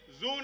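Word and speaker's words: zoon: So if noon is midday, zone is midnight. Zone, Z-O-O-N. Why zone? Because 00 there, O-O is there in the middle. It rhymes with noon.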